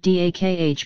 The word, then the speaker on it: dakh: from the Aryan word dakh pronounced similar to the German word Deutsch.